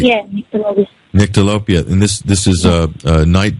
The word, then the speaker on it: Nyctalopia: The first one, Nyctalopia. I've hopefully pronounced that right. Yeah, Nyctalopia.